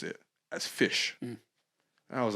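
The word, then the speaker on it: Ghoti: you pronounce it as fish and i was like okay that's interesting it's that basically like a different spelling for fish but you actually pronounce it as fish are not goldie but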